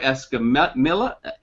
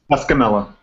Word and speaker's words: Escamilla: Uh, Quintel Forte and Esme Miller. Help me with your names, guys. Pronounce them for me. You got mine. It's Quintel Forte. Okay. And Escamilla.